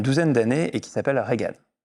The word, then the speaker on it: Regan: d'années et qui s'appelle Regan. Reagan, Regan. comme le président. Ouais, c'est juste, ça ne Non, s'écrit c'est pas lui. exactement pareil. Il y a R-E-G-A-N. Oui, Reagan, très bien.